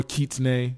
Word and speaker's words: kitsune: nine tails absolutely kitsune I always say kitsune even though I should know know how to pronounce Japanese but yeah or Keats nay as what they would say then if you want